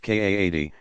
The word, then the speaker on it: qadi: religious judge called a qadi, pronounced Kaadi, himself authorized as a mufti, to adjudicate the matter.